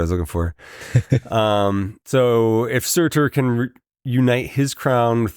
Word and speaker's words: Surtur: Is that how it's pronounced? Surtur. Yeah, Surtur.